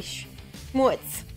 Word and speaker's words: Schmutz: I think I say schmutz, which has more of like a Yiddish inflection, and she says schmutz.